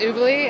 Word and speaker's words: Ubooly: Oobley? And am I saying it correctly? You are. It's Oobley, and Oobley.